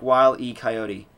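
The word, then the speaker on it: Wile E. Coyote: reviews they are y it's pronounced like while E coyote oh I see what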